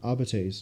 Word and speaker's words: Arbites: I've just mispronounced that. I'm sorry. I've said that how they say in the game. Arbites. There we go.